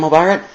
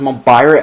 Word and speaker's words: Mobirate: I'm agreeing with Dawson Rider because it doesn't seem right for the nomenclature, It's pronounced Mobirate, I think, in the show, by the way that the Japanese actors talk, because they're Japanese, and it should be spelled Mobirate on there.